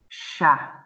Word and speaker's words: chat: Remember, C and H in English we say ch. But in French, it's a sh sound. So we pronounce this chat.